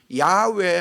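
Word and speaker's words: 야훼: 설명도 없이 여호와 하나님이다 여기 이제 언어적인 바위 발음은 야외 하나님이다 야외가 더 가까운 바람이에요 한번 해봅시다 야외 야외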